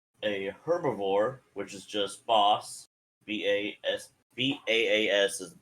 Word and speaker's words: bas: So we've got snake, which is Nash Tabash, bear, Oru Kadid, a herbivore, which is just boss, B-A-S is the pronunciation on that one, by the way.